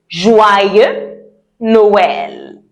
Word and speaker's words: Joyeux Noël: And if I want to say Merry Christmas, I would say Joyeux Noël.